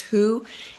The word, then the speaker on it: Hu: I like the word hue. That's a Sufi, comes out of Sanskrit, but it's a Sufi word for God Oh, I like that. or oneness. Hue, sometimes pronounced who, and you just let that roll inside of yourself.